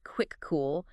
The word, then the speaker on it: Kvikoo: So just to quickly recap our deep dive today, we've looked at the Kuviku impact honors pronounced quick cool and why NZTEC earned that recognition.